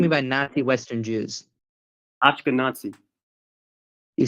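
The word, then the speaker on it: Ashkenazi: my fault that they sound similar okay it's ashkanazi you pronounce it correctly so it would be your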